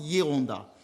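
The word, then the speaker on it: Geronda: On écrit avec un G. On prononce Yonda.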